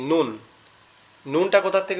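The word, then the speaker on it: نون: নুনটা কোথা থেকে উচ্চারণ হবে? নুনটা আমাদের জিহ্বার আগা উপরের তালুর সঙ্গে লাগবে, লেগে উচ্চারিত হবে নুন নুন।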